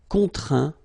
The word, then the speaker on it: contraint: Okay, and as usual, final T here is not pronounced, so you get craint, contraint, plaint.